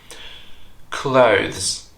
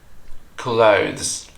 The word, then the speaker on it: clothes: you better know how it should be properly pronounced clothes clothes next we have asked asked I know be